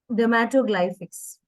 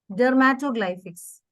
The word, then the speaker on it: dermatoglyphics: a certified dermato dermato ma'am can you just pronounce that for me ma'am dermatoglyphics once again please for me dermatoglyphics yes I'd like to learn about it it's